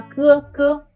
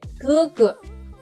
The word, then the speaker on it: 哥哥: Pour les tons neutres, il n'y a pas de marque de ton. Ces syllabes restent sans accent. Exemple, 哥哥. 哥哥, grand frère. C'est pas 哥哥, c'est 哥哥. 哥哥. Il n'y a pas de marque de ton sur le deuxième 哥.